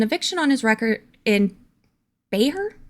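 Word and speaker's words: Bexar: on his record in Bayer Bayer the ex is silent right beer b x a r beer County I don't ever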